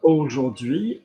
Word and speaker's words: aujourd'hui: So AU is O, like O. Like aujourd'hui, je vais au cinéma.